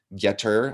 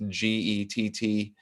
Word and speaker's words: Gettr: We have been posting on Getter, I believe it's pronounced, Gettr.